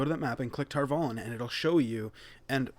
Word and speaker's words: Tar Valon: You can actually see, like, you can go to that map and click Tar Valon, and it'll show you. And by the way, Amazon, it's Tar Valon, not Tar Valon.